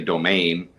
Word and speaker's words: Domingue: We just, you know, we've been saying it so long, we just say domain. Uh but yes, actually the you are supposed to you are supposed to hit the G at the end, the U and E.